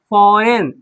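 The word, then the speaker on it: foreign: ठीक है ना, फॉरेन, एफ ओ आर ई आई जी एन, तो यहाँ पे जी क्या हो गया, साइलेंट हो गया, फॉरेन पढ़ेंगे, क्या पढ़ेंगे, फॉरेन, जी रहता है, तो जी क्या हो गया, साइलेंट, फॉरेन।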